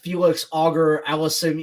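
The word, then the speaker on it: Félix Auger-Aliassime: still only yeah you have uh you have Felix auger Allison with a Canadian guy that's awesome yeah that's how you pronounce it you've got big years from uh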